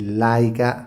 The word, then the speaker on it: Leica: leggere questa scritta all'interno dell'ottica Leica che tra l'altro si legge Laica Brand che non necessita